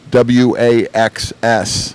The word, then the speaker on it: Wachs: And today we have Kevin Wachs, and which I did spell your name wrong, and it's pronounced Waxs, right? Pronounced wax, just like and then, but it's wax spelled, or surf wax or yeah.